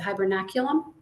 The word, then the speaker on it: hibernaculum: So, you mentioned the uh the crayfish burrows and the um I might I might mispronounce it. Hibernaculum.